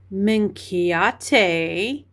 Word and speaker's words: Minchiate: And then I looked up the proper pronunciation of this deck. So in Italian it is minkiate and then in I guess English minkiate minate.